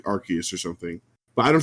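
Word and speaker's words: Arceus: The localization team is British and in in British speech ars is ass. So they didn't want it to be Asus. So the pronunciation is Archus.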